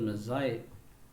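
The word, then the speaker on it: Magi: ಅವನ ನೂರಾರು ಕತೆಗಳಲ್ಲಿ the best non ಆಫ್ is hundreds of ಸ್ಟೋರೀಸ್ನ ನಾವು ಮೆನ್ಷನ್ ಮಾಡಬೇಕಂದ್ರೆ the gift of ಮೆಝಾಯ್, MEAGI, that has to be pronounced as Mezzai, that is of three people who are the biblical characters.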